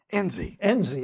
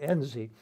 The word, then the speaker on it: Enzi: senators, Nunn, and senators from other countries, Mike Espy, maybe mispronounced his name, a senator from Wyoming. Enzi, that's right, Enzi, Senator Enzi, he's still a serving senator.